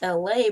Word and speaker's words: Elay: My name is LA. Pronounced like LA, like the city.